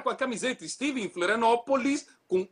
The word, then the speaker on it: Florianópolis: Os argentinos insistem em falar Florianápolis, em vez de Florianópolis. E o pior de tudo, quando você é o cara com a camiseta estive em Florianópolis, com O, e os caras insistem em dizer com A.